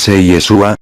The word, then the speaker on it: Yeshua: en el caso de yeshua pronuncie yeshua es el nombre propio en hebreo del masj así le fue